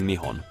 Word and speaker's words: Nihon: For the rest of this video, I will be using Nihon. These two kanji characters break down to the two syllables of Nihon.